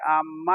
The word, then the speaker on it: आम्मा: अम्मा मतलब अम्मा नहीं जी। महक में इत्तलाआत व ताल्लुकात आम्मा। देखो हम उच्चारण कैसे कर रहे हैं, ध्यान देना।